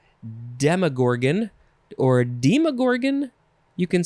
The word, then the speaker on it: Demogorgon: this is related probably it's pronounced demogorgon probably because it's related to demon which is going to be the last word in this episode should have had a